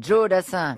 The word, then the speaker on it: Joe Dassin: c'est à l'américaine, Joe Dassin.